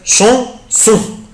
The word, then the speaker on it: chanson: بص نطقت الكلمة ازاي؟ chanson يعني لا ان نطقتها ان والاو ان نطقتها ان.